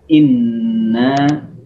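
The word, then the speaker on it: إنّا: Inna ini harful gunnah, huruf gunnah. Jangan lupa ditahan ketika membacanya. Masukkan suara ke dalam hidung dan tahan 2 harokat di dalam hidung. Inna, jangan dulu dijatuhkan kepada na. Tahan 2 harokat baru dijatuhkan. Kemudian setelah itu ada mad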